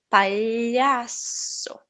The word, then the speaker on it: palhaço: representado por este símbolo ele não existe também no inglês então o mais parecido seriam as tuas palavras milho brilhante certo por exemplo eu vou falar E aí eu escolha trabalho talhação certo às vezes ele parece o som de L I então eu posso falar um pouco como alho escolhia trabalho palhaço Ok se você não